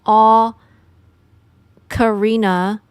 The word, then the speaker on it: ocarina: Depending on where you're from, you might pronounce that o a little bit closer to oak.